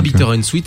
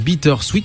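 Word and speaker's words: Bitter & Sweet: Enfin toi surtout parce que moi j'étais en train de fouer dans la vidéo prononce pas Bter and Suite et qu'on prononce Bitter Suite.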